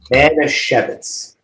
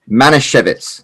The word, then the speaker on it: Manischewitz: Now, how do you pronounce it? Manischewitz. Manischewitz.